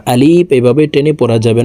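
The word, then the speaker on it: ألف: করে শিখে নিন আলিফ আলিফ হরফকে টেনে উচ্চারণ করা যাবে না আলিফ এভাবে টেনে পড়া যাবে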